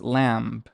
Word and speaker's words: lamb: This word in English is lamb, lamb. But here, because the b usually is silent, it's lam, lam, lam, lam.